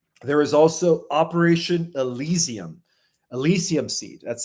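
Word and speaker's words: Elysium: Elisium seed. That's spelled E L Y S IU M. Elisium, like the Elisium fields, right, of ancient Greece, the Elissian secret societies.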